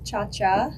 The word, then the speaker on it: Ciaccia: of the century so technically yes it's Chacha in Italian but I was misled